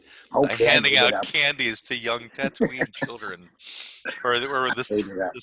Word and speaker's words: Tatooine: tattoo training well what's is the pronunciation TN or T I think it's t Tatooine it's Tatooine and you there's cut